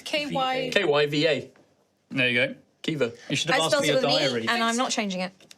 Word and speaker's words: Kyva: KYVA. I did that on purpose just to be annoying. Yeah. It was Keeva. I knew everybody would spell it with an I, and I went, nah, it's a Y.